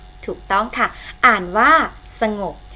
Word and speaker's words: สงบ: ต้อง ค่ะ อ่าน ว่า สงบ เรา เขียน สงบ นะ คะ แต่ เวลา อ่าน ออก เสียง สงบ สระ ออก เสียง อะ กึ่ง เสียง พยางค์ ข้าง หลัง อบ ออก เสียง เหมือน มี ของ หีบ มา นำ งง นะ คะ สงบ